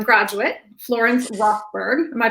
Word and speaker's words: Rothberg: And he's also the proud grandson of a U of M graduate, Florence Rothberg. Am I pronouncing that correctly?